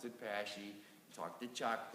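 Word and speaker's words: Paasche: py thing and believe it or not they pronounce it pashy talk to Chuck it's Chuck pashy it's not pashe but you can say Pas whatever okay so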